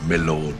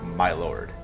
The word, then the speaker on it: my lord: This was the usual pronunciation until about the middle of the 20th century, in courts in which the judge was entitled to be addressed as my lord. However, it is a pronunciation which has now become obsolete and no longer heard in courts. She taught me how to speak the modern pronunciation is my lord.